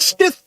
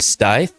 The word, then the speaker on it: Stith: run into that too I've heard stey in Stitch Smith steth stiff in stit but it's stiff just like it's spelled and if you have